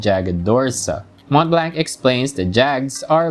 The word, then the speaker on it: Jagd: Okay, so apparently this is a German word and is actually pronounced Jagd.